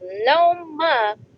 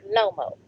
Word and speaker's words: Loma: Tank will knock him out, and it's Loma, not Lomo.